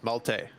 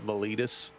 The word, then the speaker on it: Malte: That's not how you pronounce it. Multi. No. That's the one. Malte. Malte is the closest you can get in English.